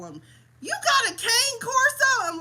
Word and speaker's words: cane corso: You got a cane corso? I'm like, no, I have a cane corso. That's how it's pronounced.